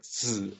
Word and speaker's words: Zi: Zhuang is the surname of this particular master, family name, and Zi, the second character there, that's the honorary.